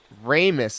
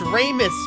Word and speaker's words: Ramus: Ramus is how you pronounce it, huh? Okay. I'm felted. Hey, you're good. He was at Dine's monument, planning an adventure with Ramus. It's Ramus, bros.